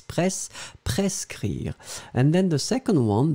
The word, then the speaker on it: prescrire: first one and it's prescrire. So prescrire, prescrire. D'accord? So let's make the difference between the two. So the first one, a prescrire. So you pronounce the S, hein, pres, pres, prescrire.